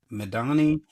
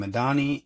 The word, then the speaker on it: Medhanie: with my name, Madani. I know it doesn't spell that easy, but it's um. Last name Madani. M E D H A N I E.